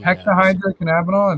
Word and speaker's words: hexahydrocannabinol: Where should be hexahydrocannabinol?